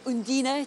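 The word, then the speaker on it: Undine: the critics favorite is on dine or Andina to give its its local pronunciation and that's a film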